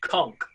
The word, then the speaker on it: conch: Even though it's spelt conch, it's pronounced conch.